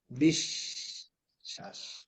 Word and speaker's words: বিশ্বাস: যে অক্ষরটার সাথে আসবে ওই অক্ষরটাকে দুইবার পড়তে হবে। যেমন দেখো, আমরা বলি না, বিশ্বাস করো না, তুমি আমাকে কি করো না? বিশ্বাস করো না। এই দেখো, বিশ্বাস, শ্বাস বিশ্বাস। এখানে কি হয়েছে দেখো, কি হয়েছে, আমরা কি বললাম? বিশ, শ্বাস বিশ্বাস। তাহলে কয়টা তালি বসা করছি আমরা? দুইটা দুইটা। বিশ্বাস।